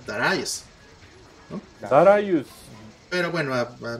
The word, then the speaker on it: Darius: que esto más bien no se debería pronunciar darius se debería pronunciar dará yes para ayuda pero bueno